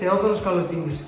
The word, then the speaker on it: Theodoros Kalotinis: Is that how you pronounce it? Yes, Theodoros Kalotinis.